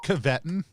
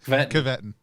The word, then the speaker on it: Caveton: name again was it it's caveton which is not how like i said it can't be how that's pronounced but it is caveton yeah that sounds right